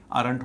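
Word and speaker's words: aren't: गलती इसमें होती है पहली गलती यहां पर होती है एम में एमन कह देते हैं आरट होना चाहिए दूसरी गलती होती विल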